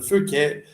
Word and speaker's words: Phuket: I mean, like Phuket, it's not Phuket. That's not how you say it. It's Phuket, as in P-O-O-K.